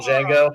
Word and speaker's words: Django: name, and he says, my name's Django, the D is silent.